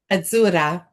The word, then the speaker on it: Azura: And I love the way you say, how do you say it? Azura. Azura. Azura. I love that.